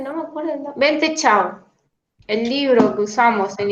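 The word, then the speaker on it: Ven Te Chow: Que se escribe B corta E N T E, todo separado, son tres nombres distintos. Vente C H O W, Chau.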